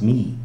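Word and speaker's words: מי: backwards so for instance the word for who in Hebrew is pronounced me and the word for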